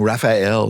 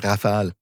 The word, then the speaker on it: Rafale: You pronounce Rafale properly. So I hear some people saying Raphael. That's just not it. It's Rafale, which means it's a gust or strong wind, something like that.